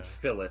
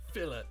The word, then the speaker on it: fillet: Fillet. They pronounce the T in filet. Fillet.